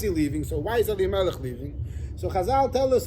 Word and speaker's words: Elimelech: Eli Melech. Oh, you said right to Eli. Eli Melech, not Avi Melech.